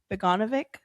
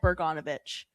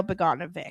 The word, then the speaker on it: Beganovic: So anyways, I think it's Dino Beganovic. I thought there was an R. I thought so too. I said Bergonovich.